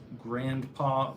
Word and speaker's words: grandpa: Do you like when people say grandpa or grandpa? Are you talking to me? Grandpa. I don't pronunciate the D.